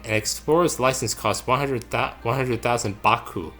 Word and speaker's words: Baku: Bakwa? I would say either Baku or Baku. Alright. The A is just silent.